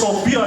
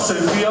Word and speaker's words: Sopia: This time I said Sopia and they gave me like a cross-eye. It's Sopia, not Sophia.